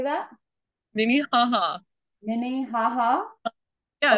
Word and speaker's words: Minnehaha: My favorite waterfall is the Minnehaha Falls. How do I say that? Minnehaha. Minnehaha? Yeah, it's like Minnehaha.